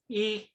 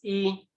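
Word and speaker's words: 伊: And the pronunciation is e. You pronounce it as e.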